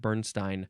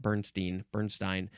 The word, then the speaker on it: Bernstein: Didn't know anything about this guy, Leonard Bernstein. I think that's how you pronounce it. It's not Bernstein.